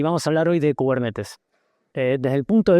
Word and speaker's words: Kubernetes: Entonces, cubernetes, primer cosa, se pronuncia cubernetes, no cubernites porque es una palabra, no sé qué.